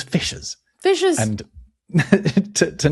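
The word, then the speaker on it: fiscas: Bearing in mind that in Old English sc is pronounced shh. So it's it was fishes.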